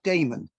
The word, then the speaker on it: Daimon: Jack Daimon.